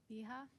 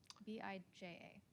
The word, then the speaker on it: Bija: My name is Bija. Like, it's pronounced with a ja sound, not like.